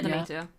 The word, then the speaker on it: Demeter: I always forget how to pronounce the name. Demeter. Yeah, Demeter.